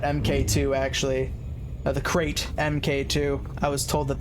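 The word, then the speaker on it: Krait: I did want to get the Kira MK2, actually, the crate MK2. I was told that that is how it's pronounced.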